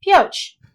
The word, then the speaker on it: Pioche: first where where is it point out it Pioche all right I did pronounce it right okay well crossing this pest